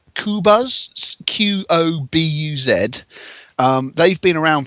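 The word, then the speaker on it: Qobuz: a French site with the curiously hard to pronounce name of kobas kubas q-o-b-u-z um they've been around for some years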